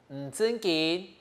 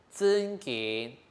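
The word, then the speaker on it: 真緊: 記得這個真緊這真呢也不好發音哦，大家一定要特別記得。有時候呢，很多人會發成真緊啊，這樣子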